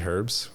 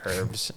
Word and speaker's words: herbs: feel like it's such an open you say herbs the H herbs herbs I say how do you say herbs